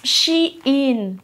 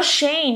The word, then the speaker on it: SHEIN: Se pronuncia Shein, no Shane, no se pronuncia Shane. Hemos vivido engañadas todo este tiempo.